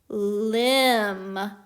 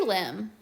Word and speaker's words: limb: silent letter combo and the b is silent so let's sound out this word limb like a tree limb very good let's do